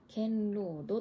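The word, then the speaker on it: 堅牢度: 硬いに牢屋の牢に度合いの度で堅牢度と読むそうです。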